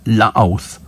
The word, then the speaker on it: Louth: So, Louth on Wikipedia is pronounced... Louth.